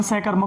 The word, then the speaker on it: सकर्मक: वैसे शुद्ध उच्चारण सकर्मक होता है, स का मतलब साथ है।